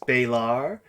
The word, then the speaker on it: Balar: I should say that it's pronounced Balar, just so that way you're not confusing it with the actual demon that is referred to as a Baylor.